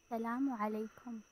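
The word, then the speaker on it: As-salamu alaykum: Salamu alaikum.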